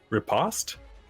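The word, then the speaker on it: riposte: going to use my reaction uh to um repost is that how you pronounce it yeah yep okay and uh sorry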